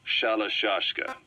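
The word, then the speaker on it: Shalashaska: Someone must have known about that, because somewhere along the line, Shashka got stuck on the end of Sharashka. The guerrillas were using the name amongst themselves, and by the time I got to hearing about it, pronunciation had wound up as Shalashashka. So, half Gulag, half Hero's sword.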